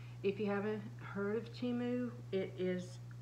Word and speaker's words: Temu: I'm back to do part two of my Teemu haul and I hope that you'll enjoy this haul um if you haven't heard of chimu it is it's timu actually that's the way they pronounce it on the the um commercial uh